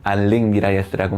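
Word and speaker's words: Enric Miralles: 엘릭이라고 하는 말은 카탈루냐식 이름이라서 카탈루냐식 발음을 하자면 알릭이 맞습니다. 그러니까 저도 지금 알릭 미라예스라고 말할 테고 여러분들도 앞으로는 알릭 미라예스라고 해주시면 좋겠어요.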